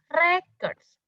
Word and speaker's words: records: this is not recourse but it must be pronounced as records records is the noun record is the verb